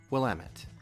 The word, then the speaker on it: Willamette: Willamette hops, 4.5 alpha acid. And if anybody was ever wondering, it's pronounced Willamette.